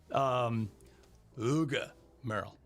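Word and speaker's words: Hugues Merle: Uga Merle. Oh, Uga. that's not how I would have pronounced That's it. not how anyone would have pronounced it. Huh? Uga. I was thinking Uga Merle. Hughes Merle.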